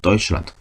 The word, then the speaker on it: Deutschland: Deutschland. 자, 여기서 또 다른 중요한 이중 모음이 나옵니다. 바로 에하고 우가 붙어있는 거 어떻게 발음한다? 오이라고 발음합니다. 오이. 오이. 그래서 Deutschland라고 발음합니다.